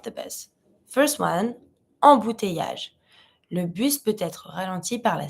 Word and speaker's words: le bus: But yeah, this is le bus. Careful with the pronunciation, we don't say le bus. Le bus, the bus.